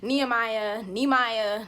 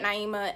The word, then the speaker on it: Naimah: Nehemiah, Namaya. I get all different types of names, but Naimah, and my name is Naimah, and I really hate when people mispronounce it.